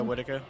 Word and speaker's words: Whitaker: Is it pronounced Whitaker? Am I getting that wrong? Yeah, Whitaker.